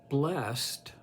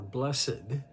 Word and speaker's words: blessed: to approach it uh blessed or blessed I grew up with the idea the the the pronunciation of blessed rather than blessed the the another translation